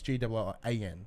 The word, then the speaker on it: Gillan: So I keep saying Gillian as if like Gillian Anderson. like Gillian Anderson from. Even that's not pronounced right. No. So it's Gillan. So it's G-I-L-L-A-N.